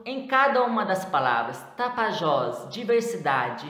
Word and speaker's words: Tapajós: Tapajós, última sílaba.